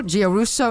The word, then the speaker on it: Giarrusso: of the Palm Springs International piano competition guso am I pronouncing your name correctly first of all you